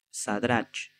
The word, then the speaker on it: Sadrac: veces me confundo, pero la ch al final en hebreo, si no me equivoco, se pronuncia como como pronunciamos nosotros la C, como entonces sería sería en realidad Sadrac y a Misael y Mesac y Aarías Abednego.